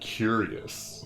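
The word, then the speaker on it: cuirass: i've always pronounced that queerus i've heard somebody some people pronounce it curious too daisy how do you pronounce the armor you are wearing right now queer us with stress on the second syllable okay oh i should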